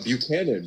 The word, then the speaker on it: Buchanan: Buchanan. Buchanan is how you pronounce it.